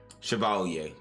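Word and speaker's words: Chevalier: I knew Viv knew you but Shiovalier I should say it like that.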